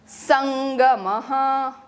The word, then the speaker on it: संगमः: संगमः, don't pronounce it द, इट इज नॉट द, इट इज संग।